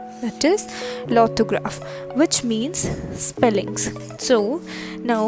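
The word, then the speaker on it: l'orthographe: orange called in fringe that is orange and lothograph remains the same that is spelling remains the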